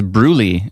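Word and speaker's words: Brewlie: Um, Cindy says Bruy is how it's pronounced. B R E W L I E is how it's pronounced, she says.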